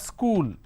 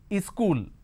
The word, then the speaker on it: school: have school correct now people in northern India they add another vowel sound in front and that is e sound and they pronounce this as is cool the moment you add another vowel sound that means you're adding a syllable and that's a wrong pronunciation school has only one